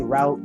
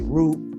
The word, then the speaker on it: route: however y'all pronounce it we say route some people say root whatever yeah never know